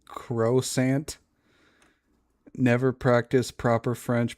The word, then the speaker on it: croissant: As a proud hater of the French language, it's croissant.